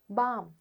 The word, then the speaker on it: balm: L sound highlighted, but in one word you hear the L sound, bulk, and in the other words you don't hear the L sound. L is silent. Walk, calf, balm.